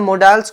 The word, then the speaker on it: modals: जैसे कि हम मोडाल्स को आप लोगों ने सुना होगा, कुछ पर्सन्स बोलते हैं मोडाल्स, कुछ बोलते हैं मोडाल्स और कुछ बोलते हैं मॉडल्स, राइट? सो ये 3 प्रोनाउंसिएशंस हैं जो कि तीनों ही राइट हैं.